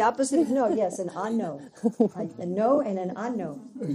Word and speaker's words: ano: Ano. Ano. Ano. Ano. Ano. Ano, not ano. A-N-O. No, no, no. It's like opposite of no. The opposite of no, yes, an ano.